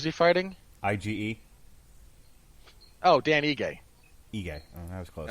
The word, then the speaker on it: Ige: So you have coverage for Korean Zombie versus Aige. Is that how you pronounce it? Who's he fighting? IGE. Oh, Dan Ige.